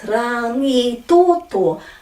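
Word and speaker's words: Rangitoto: So this is rangi toto, a, e, I, o, u. Mangere. So people say mangere or numerous other pronunciations.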